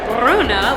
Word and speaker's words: Brno: Welcome to Brno. It's actually pronounced with a rolled R, Brno, which I just learned.